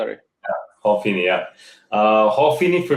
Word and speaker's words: Hal Finney: I I I thought you said Paul. No, no, Hal Finney, yeah, yeah. I said Paul. Yeah, you're right, Hal is the pronunciation. Hal Finney.